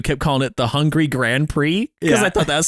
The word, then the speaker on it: Grand Prix: That's not how you say Grand Prix. It's a long O, a long A that sounds like an O. Grand Prix.